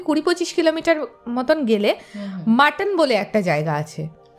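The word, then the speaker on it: Mattan: এখন জায়গার এই না ওটা কিন্তু এম ইউ টি টি ও এন নয় এটা এম এ টি টি এ এন মাটন actually তবে উচ্চারণ মাটন হ্যাঁ সেটাই হচ্ছে ব্যাপার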